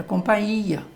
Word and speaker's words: companhia: essa frase é assim então a pronúncia certa é companhia mas normalmente a gente não escuta isso das pessoas nem fala que ele está em companhia de alguém veja aí